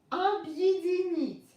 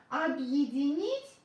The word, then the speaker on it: Объединить: I is stressed. B. Again, ye is separated. Объединить. Объединить. But again, when I pronounce it really fast, ye becomes yi. Объединить.